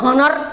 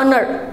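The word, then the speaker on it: honour: क्यों यो H O N O U R हनर होता हम कहते जाने हनर मंचो है ना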